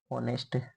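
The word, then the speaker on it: honest: ऑनेस्ट। ऑनेस्ट। ऑनेस्ट के अंदर भी कौन सालेंट होता है बच्चों? एस जो एच और दोनों के अंदर एच एच जो है वो साइलेंट है।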